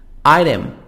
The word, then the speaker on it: item: shine brightly shining brightly item item t soft d item an object item